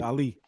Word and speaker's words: Ali: Ali. You know, like the best I apologize of all time, Muhammad Ali. Muhammad Ali. I float like a butterfly. My favorite. That's how you pronounce my name.